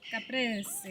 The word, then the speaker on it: caprese: Caprese. You have to say it like an Italian.